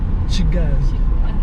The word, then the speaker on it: Kigali: Kigali. I said Kigali, but it's Kigali now. Okay, that's in It's not Chi, it's Ki. Ki. No, Kigali.